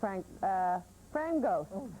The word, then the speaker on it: Frangos: If you would like to learn more about this extraordinary woman, this extraordinary actress, here's Joan Frangos with a special premium offer. It rhymes with mangoes.